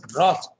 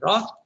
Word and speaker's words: wrath: By the way, that word wrath, you can pronounce it as wrath, you can pronounce it as wrath. Okay. Sometimes they pronounce it also as wrath, the Americans.